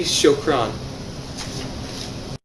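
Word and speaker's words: شكرا: to say thank you to say thank you you say shokron the use of time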